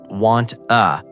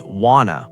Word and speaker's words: wanna: It's not want uh it's wanna with the vowels blending smoothly.